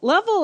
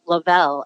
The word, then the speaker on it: Lovell: right level right yes i love you pronouncing my name correctly i actually met a level who pronounces her name lavelle and she's in the